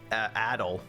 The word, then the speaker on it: Adol: ] clue I know the main character's name is adol which apparently the people in or the characters in this game decid to pronounce ad all instead uh but heyo um